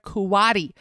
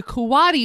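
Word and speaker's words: coati: and came face to face with a scared kuati Yes you heard me right in a karate that's spelled c-o-a-t-i the kawadi was hanging onto the front door frame of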